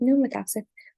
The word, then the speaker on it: pneumotaxic: Remember pneumotaxic, the P is silent, so we just call it pneumotaxic.